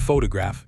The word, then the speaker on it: photograph: Photograph, stress is on the first syllable.